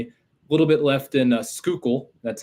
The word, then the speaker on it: Schuylkill: A little bit left in Schuylkill. That's how that one's pronounced.